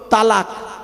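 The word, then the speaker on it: طلاق: করেছে কি বলুন তো তালাক তাই না শব্দটা কিন্তু তালাক নয় শব্দটা হলো তলাক তম আলিফ কফ ওর বাংলা উচ্চারণ হলো তয় বয় ল আকার ক তলাক মানে পৃথক দেওয়া ছেড়ে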